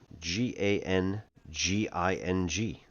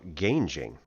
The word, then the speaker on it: ganging: Um, so G A N G I N G pronounced ganging or gangjing.